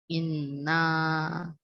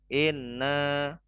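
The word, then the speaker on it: إِنَّا: qadar tidak berhenti ya Jadi kalau baca itu jangan Ine anggota enggak itu Bukan gitu bacanya tapi dipanjangkan Ine Ine ada Inna aja di bukan Ine nggak bisa itu bukan panjang namanya dipotong ya kayak gitu Coba diulangi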